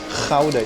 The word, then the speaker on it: Gouda: Gouda. Yeah, you gotta say it with the hard G.